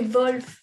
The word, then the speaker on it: Wolf: Est-ce que j'ai bien prononcé, Pauline? Wolf. C'est Wolf.